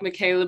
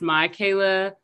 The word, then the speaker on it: Mikayla: no please don't apologize it looks like michaela but it's pronounced my kayla mom and i always tell the joke it's you know it's my kayla not your caleb but yeah uh going